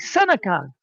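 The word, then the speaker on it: Seneca: do you not know Senica?" Yeah. I mean, it's a town in New York, for sake. Senica. It's It's It's right there. It's It's the way it's spelled.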